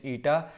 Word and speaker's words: eta: ईटा इससे आप लोग फेमिलियर हो, इसका प्रोनाउंसिएशन ईटा.